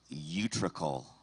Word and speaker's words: utricle: Your word is utricle.